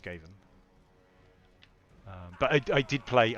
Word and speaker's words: Skaven: camera with right click yes I never played skaven in tabletop but I did I used to say scarving when I was little when I was when I was a young teenager I would say scarving because I'd never heard anyone say it out